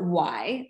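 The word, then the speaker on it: Wai: um they call it y um which is pronounced y as in why are we all here but it's spelled w a i we are infinite and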